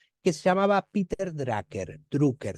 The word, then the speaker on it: Drucker: se llamaba Peter drer drucker se escribe d r u c K e r drucker Dr Peter drer era